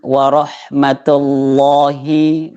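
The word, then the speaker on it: وَرَحْمَةُ اللهِ: Warahmatullahi Allahnya masih tebal tebal. Jadi cara iya pengucapan tebalnya itu ee seakan-akan lidah ini menempel di langit-langit atas. warahmatullahi ya gitu ya.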